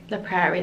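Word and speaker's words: La Prairie: because I didn't know sorry in the Prairie the Prairie that's how you pronounce it cuz I didn't really know much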